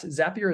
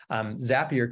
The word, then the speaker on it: Zapier: different ways, is that their tagline is Zapier makes you happier. So that's how, I believe that's how you're supposed to pronounce it. But Zapier is effectively a tool